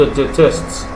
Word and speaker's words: détestent: Ils te détestent, the ENT are not pronounced, as I said before.